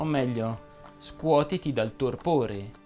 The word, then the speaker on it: torpore: O meglio, scuotiti dal torpore, che per inciso si pronuncia con la O chiusa.